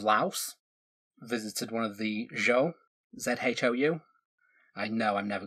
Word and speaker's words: Zhou: Chow, there we go. The Chow Dynasty. So ZH and Q are both pronounced CH in Chinese.